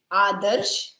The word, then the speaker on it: Adarsh: Adarsh, because you have to say ah, that sound ah.